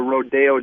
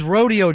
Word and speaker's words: Rodeo: Hey, what about uh Rodeo Drive? Uh yeah, it was Rodeo Drive and then they decided we are rich. We're not a bunch of cowpoke people anymore. And they switched it to Rodeo.